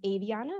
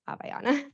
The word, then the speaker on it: Aviana: And I have it pronounced as Aviana, not Aviana, just for everyone's awareness.